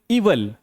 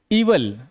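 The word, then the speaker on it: evil: इविल पढ़ते हैं जो कि बिल्कुल गलत है। सही इसका प्रोनाउंसिएशन होता है। इवल। ठीक है? इ व ल इवल।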